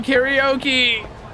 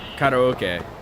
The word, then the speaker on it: karaoke: everyone we can't do karaoke sorry I I should pronounce it the correct way karaoke this is the